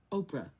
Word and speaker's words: Oprah: Oprah. Could you spell that, please, he said. I did, O-P-R-A, and the H is silent, I explained.